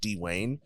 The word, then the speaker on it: D-Wayne: media at its d-e-w-a-y-n-e I put a hyphen in my name d hyphen w-a-y-n-e because my name is pronounced d Wayne Right uh but there's